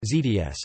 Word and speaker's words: Zersetzung: The Stasi perfected the technique of psychological harassment of perceived enemies known as Zersetzung, pronounced ZDS, a term borrowed from chemistry which literally means decomposition.